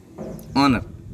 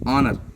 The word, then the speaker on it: honor: Honor. Honor. H is silent.